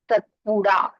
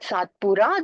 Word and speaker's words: Satpura: p u r a in Hindi they use the D alphabet to call it satpura they don't call it satpura they call it satpura